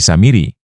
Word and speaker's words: Samiri: Sehingga pengarang Al-Quran mengira, Samaria adalah nama orang yang dalam pelafalan Arab menjadi Samiri, yang hidup pada zaman Musa, dan membuat patung anak sapi yang bersuara.